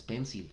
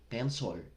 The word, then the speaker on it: pencil: Y bueno, no es pencil, en realidad se pronuncia pencil.